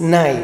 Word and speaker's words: nay: Die Unterschied ist, es gibt, weil andere, man nennt Nei, das ist in der Türkei. In der Türkei, man also nennt Nei, Nei, Nei und schreibt man das N-E-Y, aber das Arabische ist Nai, ist mit N-A-Y.